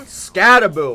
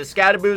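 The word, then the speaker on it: Skattebo: that's about it cam scabo or at least I think that's how you pronounce it scaboo scabo I'm going to say scaboo cuz that's what I hear most people say easily the most underrated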